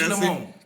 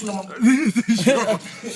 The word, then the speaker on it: Tullamore: African uncle pronounced that? Tullamore Dew. Yeah, it's Tullamore. Tula More. Yeah, it's Tullamore.